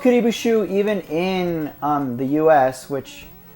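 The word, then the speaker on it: Kuribo's Shoe: sounds so simple, but they misspelled or like mispronounced Kuribu Shoe as Karubi Shoe in the cartoon.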